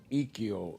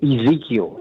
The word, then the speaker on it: Ezekiel: Let's go to Brother Ekiel in Atlanta, Georgia. Brother Ekiel. Good afternoon. Good afternoon. Am I pronouncing your name right? Well, yeah, it's my formal name is Ezekiel, like from the Bible.